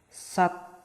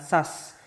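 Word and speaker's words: 삿: Nah, ketika ada konsonan akhir siet ditambahkan, berarti kata ini bunyinya sat. Tuh ya, sat, bukan sas, tapi sat.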